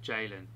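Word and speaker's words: Ceylan: and Jalen's name is, although it's spelled with a C, it's pronounced J. Yeah. So it's Jalen. It's C-E-Y-L-A-N, spelled, pronounced J-A-Y-L-A-N. Yeah.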